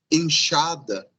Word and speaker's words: enxada: Segunda, se a palavra começa por X, ou está acompanhada na primeira sílaba pela letra N, vai ter valor de sh, sim? Por exemplo, xícara, sim? Por exemplo, enxada, sim?